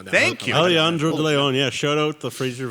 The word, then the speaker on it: Alejandro de Leon: have a first time Award winner that being aleandro de Leon of the nipple and Hawks Nice pronunciation thank you Alejandro de Leon yeah shout out the Fraser Valley Thunderbirds u18s